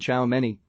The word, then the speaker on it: Tchouaméni: with evolving real madrid my name is aurelien ciao many okay real madrid's new midfielder smiled told the